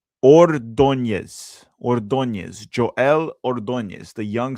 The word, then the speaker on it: Ordóñez: Gonna try to pronounce it to the best of my ability here. It's Ordóñez.